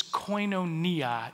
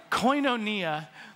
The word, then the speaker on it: koinonia: of us together now that word fellowship is koinonia in the greek the the brits say koinonia but they also say aluminium and vitamins so what do they know coinonia is is is this it's relationship plus partnership